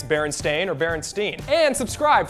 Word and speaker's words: Berenstain: actually okay well still it probably is Baron stain and we just have been saying it wrong forever it's like the word